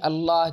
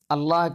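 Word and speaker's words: الله: آنے سے پہلے بھی اللہ کا تلفظ اسی طرح فتحہ اور ضمہ کے بعد تفخیم کے ساتھ، تغلیظ کے ساتھ اور کسرے کے بعد ترقیق کے ساتھ تھا۔ دین اسلام کی آمد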